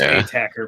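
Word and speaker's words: ATACR: to 25 big ass how you say it attacker have I always just said that wrong it's it's attacker but yeah it's the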